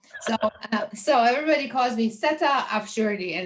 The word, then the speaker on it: Seta: name is seta yes it's not set i said yes but i made it easier but um so if i wanted to introduce myself my name is actually so it rhymes better you know it sounds nicer like a little bit italian vowel sounds but anyways um i'm